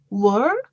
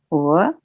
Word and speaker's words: were: let's hear you say, well, Well, where, where, where, where, were, were, were, were, were, were, yes, were, were, yes. So were is different from war.